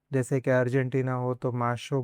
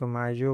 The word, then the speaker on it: mayo: In Argentina, you may hear it pronounced more like "masho." In some regions, it may sound like "majo," while in Spain and many other countries, it is commonly pronounced as "mayo."